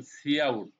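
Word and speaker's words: cout: হয় এসই ও ইউটি এটাকে বলবেন সি আউট সিটাকে উচ্চারণ করবেন আউট মানে প্রিন্ট প্রিন্ট বলছিলাম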